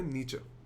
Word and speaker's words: Nietzsche: नीचे का मानना यह था इसका प्रोनाउंसिएशन है नीचे.